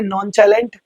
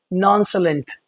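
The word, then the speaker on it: nonchalant: आ रहा है ना इसको कुछ लोग बोलेंगे नॉन टैलेंट है ना या नॉन टैलेंट जो भी है पता नहीं क्या-क्या बोलेंगे। लेकिन सामने लिखा हुआ है नॉन साइलेंट। नॉन साइलेंट। तो आपको ये सी एच जो है वो श का साउंड क्यों क्रिएट कर रहा है ये मैं आपको अपनी नेक्स्ट क्लास में सिखाऊंगा।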